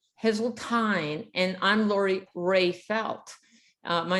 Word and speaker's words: Heseltine: And did I pronounce it right? Heseltine. Heseltine, and I'm Lori Rayfelt.